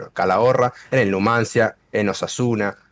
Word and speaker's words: Calahorra: eso porque es ese si la chica se pronuncia calahorra en el numancia en osasuna se va no